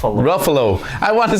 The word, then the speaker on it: Ruffalo: How do you pronounce his name? Ruffalo.